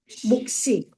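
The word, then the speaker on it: 몫이: 자, 그런데 조심해둬야 될 건 시옷이 뒤로 연음이 될 때는 반드시 된소리로 연음이 돼요. 그래서 얘는 어떻게 돼요? 목시, 목시. 이렇게 됩니다.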